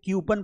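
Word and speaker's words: coupon: अब जो word कूपन है बेटा इसको हम क्या पढ़ते हैं? सीधा कूपन पढ़ देते हैं। कूपन लेकिन इसको ध्यान रखना यह क्यूपन पढ़ा जाता है।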